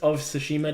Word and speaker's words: Tsushima: The T is silent. Yeah, Tsushima.